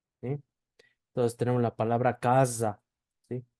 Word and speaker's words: casa: va en medio de cuando va en medio de vocales donde se pronuncia como una s vibrada Entonces tenemos la palabra casa Sí casa y como va en